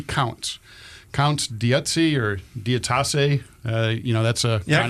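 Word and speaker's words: d'Utassy: Well, Hayes is going to change his mind certainly on Dietzi, or how do you pronounce it here? I go Dutassi. Dutassi. Yeah. I'm going to say Dietzi because that's how I pronounce it.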